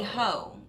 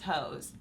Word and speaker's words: Heaux: It should be Heaux, but I think she's gonna say these hoes, and I'm not shocked by this.